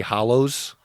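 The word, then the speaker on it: Hallows: do you say it Deathly Hollows correct there go like a hollow hole yes where the elderly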